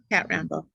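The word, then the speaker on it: Cat Rambo: Okay, what is her name again, and how do you spell it? It's CATRAMBO. Kat Rambo? Kat Rambo.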